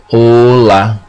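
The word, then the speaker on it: hola: of the lesson like ola for the H family that you have a A E O because the H is silent.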